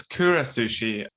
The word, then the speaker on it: Kura Sushi: to talk about the kuras sushi is that how you pronounce it yeah so it's it's Kura Sushi and for anyone that